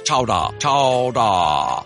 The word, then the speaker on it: chowder: didn't get turned into new england clam chowder today pronounced regionally as chowdah oh that's so fun